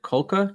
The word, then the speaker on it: Kulka: I am joined by quarterback Tyler Kulka. Did I pronounce that correctly?